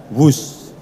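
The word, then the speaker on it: Whoosh: operasi optimal sistem hebat sekali lagi w h o o s h tapi membacanya wus kereta cepat Jakarta Bandung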